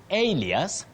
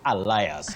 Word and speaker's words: alias: And alias, not alias, Betty.